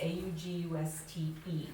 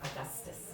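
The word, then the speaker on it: Auguste: August, A-U-G-U-S-T-E, it's August, not Augustus or Augustine.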